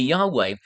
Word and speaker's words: Yahweh: Uh the LXX, the Septuagint translators, used kurios to translate Yahweh. Or or some would pronounce it Jehovah. The the the correct trans- translation would be Yahweh.